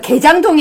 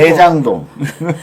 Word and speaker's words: 대장동: 발음 정확하게 해서요. 개장동이 아니고. 대장동.